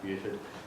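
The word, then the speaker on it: Beauford: So in that milieu of people, that's where he met Truman Capote, Richard Wright, Buford Delaney, it actually is pronounced Buford, and James Baldwin in Paris.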